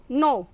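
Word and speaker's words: know: का मतलब होता है नो नो यहां पर के साइलेंट है इसका मीनिंग होता है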